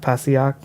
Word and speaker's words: Passaic: How do you pronounce that? Passaic.